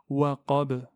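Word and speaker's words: وقب: Comme ici, waqab, waqab. Donc on s'arrête sur un soukoun et on claque la lettre.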